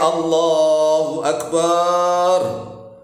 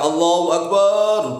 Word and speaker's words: Allahu Akbar: Itu yang pertama ya, A-nya panjang salah. Yang kedua, bar-nya panjang juga salah.